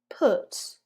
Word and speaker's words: put: So not ooh like in you, but almost like that neutral schwa. So practice it with me. Put, could, shook.